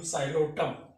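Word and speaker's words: Psilotum: the life cycle of Xylotum, Lycopodium, Selaginella, Equisetum, and Marsilea. Today we are going to be dealing about what is the systematic position or classification of Xylotum. Here the P is silent, P-S-I-L-O-T-U-M, Xylotum.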